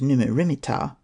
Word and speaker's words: Neb-mat-ra-mer-ptah: Another possibility is that it represents Amenhotep III, Neb-mat-ra-mer-ptah, pronounced as Numu-rimit-ptah, which may be shortened to Neb-mer-ptah or Mer-neb-ptah.